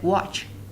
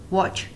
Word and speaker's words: watch: When it is used before CH, then T is silent. It means that if there was a CH after T, so the T is silent. In the first one, tiger, we don't have any CH after T, so it's tiger. We sound it like T. Toy. And in here, we've got a CH after T, so we pronounce it like watch, watch. There is no T.